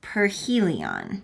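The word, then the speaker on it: perihelion: So this word right here is aphelion, and this word right here is perhelion, okay?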